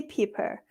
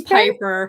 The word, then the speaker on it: Piper: And then Christy Pepper. Am I correct? Am I pronouncing you right? Am I pronouncing you right? It's Piper. Piper, sorry. Piper. Christy Piper.